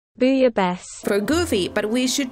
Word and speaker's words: bouillabaisse: How do you pronounce that bouillabaisse? Bouillabaisse. Booyah best.